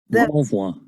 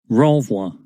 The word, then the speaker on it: renvoi: Renvoi. Have you heard the Yes, sound? but it is a bit low. Renvoi. Did you get the sound? Renvoi.